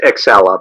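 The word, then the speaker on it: Aixela: first please I can it is Axela but it's spelled with an i it's AI X see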